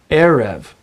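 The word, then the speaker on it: עֶרֶב: Now, in most Hebrew words, the accent falls on the last syllable. You would assume that you would say erev, as in erev Shabbat, Sabbath evening. But that isn't the case. When you have a word with a double segolet, the double eh sound, then the accent falls on the first syllable. It's one of the only exceptions to the rule, actually. Therefore, you don't say erev Shabbat, even though maybe you're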